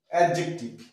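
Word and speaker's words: adjective: সামনে হলো এটা সাইলেন্ট আবার এ ডি জে ই সি টি আই ভি এডজেক্টিভ এডজেক্টিভ দিয়ে উচ্চারণটা আমরা করবো না কেন যে এর সামনে আছে এডজাস্ট এডজাস্ট রং প্রোনাউন্সিয়েশন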